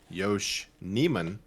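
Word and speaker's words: Nijman: Yosh Nisham. Well, from what Dave Canalis said today, Yosh Neman is that that's how he pronounced it.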